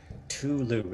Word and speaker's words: Cthulhu: be Ed once again Tulu is that is that with a silent c Tulu and he wanders